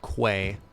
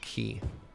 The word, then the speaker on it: quay: pronounced K not Ki I thought the first time I tried to pronounce it Quay and I got Dunked On by chat and was trained to say it's pronounced key look how much better